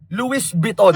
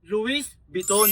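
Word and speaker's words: Louis Vuitton: Oy sa nagpauso ng pangalan na yon mali po yung pagkakagawa niyo. Ah ang tamang anong tamang pronunciation? Luis Beton. Oo tama.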